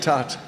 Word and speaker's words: tarte: It's a French word, which is tarte, the French pronunciation.